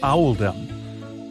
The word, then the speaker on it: Oldham: was made to reflect the pronunciation of oldum in the local accent which is alom accordingly paying respects to